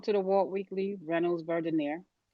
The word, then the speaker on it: Verdiner: It's Verdiner. Yes. Welcome to the Walt Weekly, Reynolds, Verdiner.